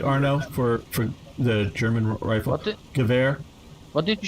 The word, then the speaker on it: Gewehr: Gewehr. What did you say? Gewehr. Gewehr. Yeah. Yeah, for Machine German gun. Gewehr.